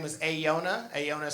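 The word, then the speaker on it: Aeiou'na: Her name is Ayona. Ayona is spelled A-E-I-O-U apostrophe N-A, because her parents really took their vows seriously.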